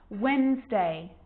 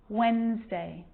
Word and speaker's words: Wednesday: can be silent too wednesday handsome sandwich so i'm not pronouncing the d in i'm just pronouncing the consonant n sound before it try it with me one more time wednesday handsome sandwich and a